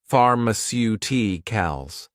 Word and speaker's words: pharmaceuticals: You may realize that for words ending in icle, the stress normally falls on the syllable before I call i.e. the third to last syllable in the word.